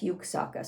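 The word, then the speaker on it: Juksáhkká: figure with a bow that's yuksaka spelled with a j well one of the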